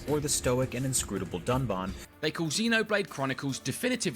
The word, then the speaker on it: Dunban: strongly disagree with and then calls the character dunban Duncan this time however they did edit out the